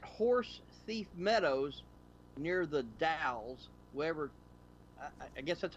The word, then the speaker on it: Dalles: It says at Horse Thief Meadows near the Dalles, wherever. I guess that's how you pronounce it. D-A-L-L-E-S. Dale, yeah, Dow? Dalles. All right, yeah, near the Dalles.